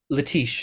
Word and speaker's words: Letiche: Letiche, sir. It's French Cajun.